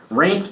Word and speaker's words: Reince: It sounds like a Reince Steve Brule mispronunciation of someoun's name. It's like REINCE, I think.